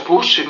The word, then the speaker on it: poezen: di Amsterdam il de pushen ancorato alla sponda del canale single nel pieno centro di Amsterdam è un battello che fugge da gattile il termine olandese poezen si pronuncia pushin ed è il plurale